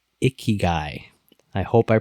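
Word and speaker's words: ikigai: far as Financial strategies go there's one called iy guy I hope I pronounce it right i k i g a i iy guy uh it's it's pretty woo woo and I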